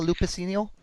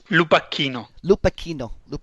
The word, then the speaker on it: Lupacchino: How do I pronounce her last name? Emiliano Lupacino. Lupacchino. Yes.